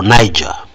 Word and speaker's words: Niger: following events unfolding in another African country called Niger yeah or Niger some of us pronounce it like that where those are cool